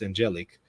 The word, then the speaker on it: Angelic: On Holy Thursday, May 2nd, 2024, Angelic Molin, pronounced Angelic, was ordained to the diaconate in Zimbabwe.